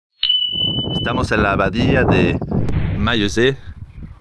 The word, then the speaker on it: Maillezais: Estamos en la abadía de Maillezais, o Maillezais como lo pronuncian aquí en Poitou.